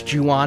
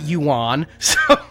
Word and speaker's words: Ju-on: I learned a lot about The Grudge and The Curse and Ju-on and all of that, including how to pronounce Ju-on and not Yuan.